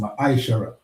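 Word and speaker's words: מעשר: It means tenth in the Hebrew and it's pronounced Ma'aishara.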